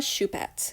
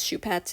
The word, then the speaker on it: Shupat: fourth place we have Carla shupat which is how I've been told to say the name somebody said it's shoe pets and that's how you say it if I'm wrong